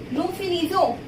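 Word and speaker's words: nous finissons: The sound of ONS. O till O. Nu finizo. Till O only. And and s been not pronounced. Okay, we didn't pronounce n and s because it is consonant.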